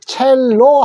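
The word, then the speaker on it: cello: 자, 근데 영어에는 첼로 하지 말고요. 요거를 오우라고 읽어 주십시오. 오우. 요렇게 오우. 그래서 첼로. 됐죠? 자, 하나 더 배웠습니다. 이탈리아에서 요거 C자는 치읓자 소리가 납니다. 첼로.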